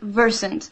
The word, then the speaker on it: Versant: pronounce yourself oh it's technically if you it's pronounced Versant but we save version I'm not gonna lie